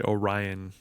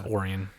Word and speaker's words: Orion: that's fair um also most folks might look at it and say Orion no it's Orion well I understand that but like it's spelled like Orion all right yeah yeah